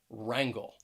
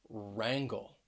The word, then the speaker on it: wrangle: the letter w and often w may be a silent letter at the beginning of a word especially when it's followed by the letter r that w r combination for example we have